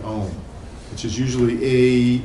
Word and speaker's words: Om: Om, which is usually you can sort of pronounce it in 3 ways, A-U-M, Om.